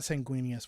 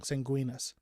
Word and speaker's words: Sanguinius: It's not Sanguinius. Why did I say that? I just said it wrong. Sanguinas, thank you.